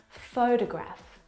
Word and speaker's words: photograph: of these words so in the first example photograph the first syllable is the stressed syllable you can hear it very clearly photograph o photograph the second